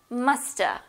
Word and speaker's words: musta: Shoulda, musta, also have. A instead of have. Shoulda, should have, musta, must have.